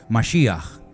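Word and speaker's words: משיח: significa la palabra Cristo Cómo se dice Cristo en hebreo Ya lo hemos enseñado un millón de veces masia que significa ungido Yo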